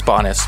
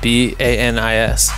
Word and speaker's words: Banis: with michel foucault bad it's bonus but it's my name wrong the entire name is that really bonus yes ba NIS that's Filipino swag shout